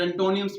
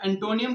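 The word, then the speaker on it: antonyms: सिनोनिम्स बोलते हैं और एंटोनिम्स बोलते हैं। तो जो सही प्रोनाउंसिएशन है वो सिनोनिम्स नहीं है, वो सिनोनिम्स है। और जो सही प्रोनाउंसिएशन एंटोनियम की है वो है एंटोनिम्स, सिनोनिम्स एंड एंटोनिम्स।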